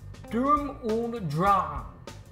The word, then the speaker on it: Sturm und Drang: I don't know German, so I've mispronounced this phrase, which is actually pronounced Sturm und Drang. Okay, that does sound more German. Sturm und Drang.